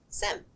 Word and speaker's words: SIEM: SIEM stands for Security Information and Event Management, and it's pronounced SIEM.